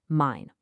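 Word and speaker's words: mein: The key takeaway here is simple. E. I. Always always sounds like I.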